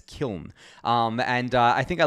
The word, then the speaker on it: Kiln: this word correctly now i think it's kiln i know i say killen a lot but it's kiln um and i think